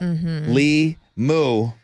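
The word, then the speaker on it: LiMu: Li Mu. Liu. Oh, it rhymes with emu.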